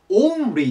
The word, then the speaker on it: only: だよねま日本語だとオンリーになっちゃうんですが正しい発音はオリーですおうが入る感じオリーとなりますでこれでただ